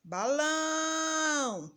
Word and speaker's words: balão: Balão. Quem a gente demorou mais? O lão. O lão é a última sílaba da palavra.